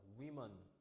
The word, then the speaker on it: women: woman의 복수형은 뭐라고? 발음이 달라져. women, woman, women.